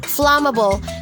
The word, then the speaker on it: flammable: say flammable but flammable flammable this word is divided into three syllables unai fla then ma then ball flammable flammable the stress is on the first syllable fla fla flammable not not flammable our